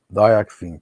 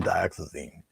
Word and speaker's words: dioxazine: just use dioxin um dioxin purple is what Mike Trapp calls unpronounceable so I think he uses unpronounceable purple and unpronounceable blue it's really dioxazine um and yeah people